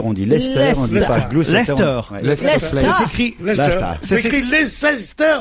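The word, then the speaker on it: Leicester: Lester c'est lesester et glester on dit pas lesester on dit Lester on dit pas glécritécrit lesester oui ouiit grand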